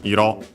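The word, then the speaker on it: 色: It comes technically from Iro, accent on the last syllable, color, with this doubling of the term.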